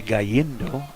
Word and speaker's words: Galindo: I heard the guy next to us yesterday say Gallindo, which would be a Hispanic pronunciation of that. But, well, we've kind of anglicized it around Cedar Park.